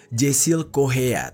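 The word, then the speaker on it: Jasiel Correia: yaitu kisah dari Jessil Korea atau kalau yang gua tahu itu e ucapannya adalah Jesil Kohea.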